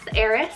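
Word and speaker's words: Aris: A name here, we have Eris, spelled A-R-I-S, Eris.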